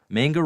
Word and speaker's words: manga: Dave, manga rhymes with cowabunga, not Jenga or Topanga.